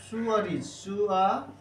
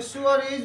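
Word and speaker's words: sewerage: charge so charge including सीवरेज service charge is equal to okay सीवरेज okay this pronunciation is like this okay सुअरिज okay सुअरिज means सुअरिज charge okay S ई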